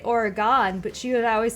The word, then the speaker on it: Oregon: No, Salem, Oregon.